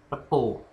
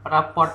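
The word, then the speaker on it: rapport: Lalu yang kedua adalah repo. Kalau tulisannya bacanya raport ya, report itu ya. Tapi kalau misalnya banyak kalangan kita sih manggilnya repo.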